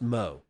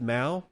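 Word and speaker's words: Mow: however Samson Mo's name is pronounced Mo it is some people pronounce it Ma it is not and I know that for a fact I've talked with Samson Mo I do know how he pronounces his last name it is Mo not Mao so it it's okay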